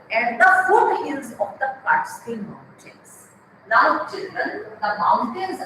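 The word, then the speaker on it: Kaatskill: K-A-A-T-S-K-I-L-L, and the pronunciation is given in the bracket. Catskill.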